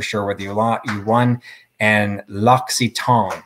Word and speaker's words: L'Occitane: whether you won and l'occitane so i wasn't that far off uh evidently is the preferred pronunciation okay so really quick